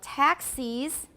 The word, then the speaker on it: taxis: And then most accents take the vowel in the second syllable of taxis, make it different from that in Texas.